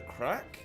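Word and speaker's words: craic: And, it's pronounced crack.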